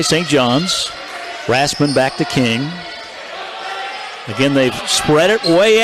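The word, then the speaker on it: Koenig: Paige G for St Johns over to Melanie King she spells her name k o e n i g but pronounces a king most of us would say kany but that's not the way she wants it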